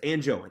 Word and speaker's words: Ango: I kept calling him Andio. Uh it's not Andio, it's Ango.